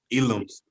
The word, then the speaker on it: Ealoms: Ealoms.